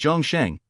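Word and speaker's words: 钟声: to convey in Translation in Chinese the sound of a bell or the toll of a bell is pronounced Jong xang whereas all living beings is pronounced Jang xang if you find any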